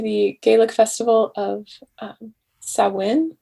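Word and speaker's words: Samhain: gaelic festival of um sawin i believe is how you pronounce it and like so many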